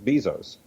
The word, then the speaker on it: Bezos: Bezos. That's how you're supposed to pronounce his name.